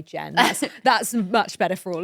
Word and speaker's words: Jean: it as Jen if she had a French pronunciation. Yeah. Yes. And then she said, don't worry, just say Jen.